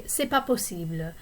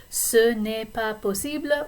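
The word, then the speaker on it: c'est pas possible: bored that's not possible often you will hear people in quick conversation drop the of sunipa posible they might say sepa posible so you can pronounce it whichever way you want you can either say it really carefully su nepa posible or sepa posible up to you okay four is je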